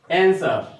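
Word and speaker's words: answer: Next 5 number, which one is silent letter in the word आंसर। बताया कि ये आंसर जो शब्द है और उसमें कौन सा लेटर साइलेंट है। तो इसमें साइलेंट हमारा क्या होता है कि W होता है।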